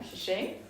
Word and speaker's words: Tze Ching: I'm Tze Ching, like Eddie already said, and you pronounced it very well.